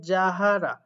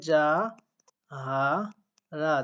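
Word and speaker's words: 자하라: দেখেন জিউটটা আসলে প্রথমে বসলে আমি পড়াই হচ্ছে ঝ, বাট একটা কথা মনে রাখবেন, নামের ক্ষেত্রে কিন্তু ঝ হয় না, বর্গীয় জয় হয়। তো সেক্ষেত্রে এখানে উচ্চারণ হবে যা হা রা, যাহারা।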